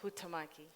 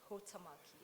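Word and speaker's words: Huhtamaki: next question and you did say it is pronounced Hutamaki. Hutamaki.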